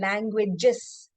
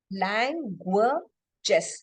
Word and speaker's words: languages: When I say languages, languages. So it's 3 syllables. What happens here is like when I said language and languages, the last letter in languages, it was S, but it was sounding Z there, right?